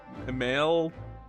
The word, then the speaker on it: Mael: Maleu male. W male. Okay. So, it's it is pronounced male.